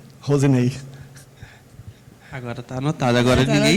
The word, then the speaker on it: Roseney: É Rosinei, mas na verdade, Rosinei que se escreve R-O-S-E-N-E-Y. Rosinei.